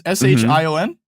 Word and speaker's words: Shion: Then one of the people that worked on Gravity Falls, their name is I think it's pronounced Shion. It's Shion.